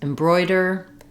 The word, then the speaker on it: embroider: at how to pronounce embroider embroidery and embroidered so these words are all stressed on the second syllable and the letters o I say oi like in boy that means that the first